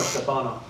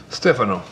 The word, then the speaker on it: Stefano: your name Stephano or Stefano Stephano he's um Italian way is a correct way to say it um but um but